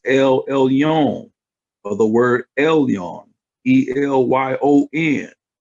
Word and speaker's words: Elyon: This is pronounced Elyon, or the word Elyon, Elyon, right?